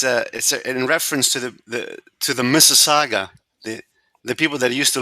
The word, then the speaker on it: Mississauga: Now, I want to know who on here can pronounce the town that I'm in. What, Mississauga? Mississauga.